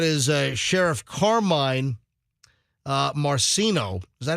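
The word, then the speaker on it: Marceno: the hundreds that is a sheriff Carmine uh marcino is that how you pronounce it yeah Sheriff marcino yeah uh down in Lee County that is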